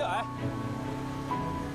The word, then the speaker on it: 岩: Ai "Ai" as in "rock" and "" as in "dragon" Shouldn't it be ""? Yep, we pronounce it as "Ai" Hello, Ai I'm Xu Haoning Xu Haoning!